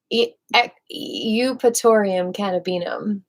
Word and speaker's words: Eupatorium cannabinum: But let's go back to Eupatorium cannabinum.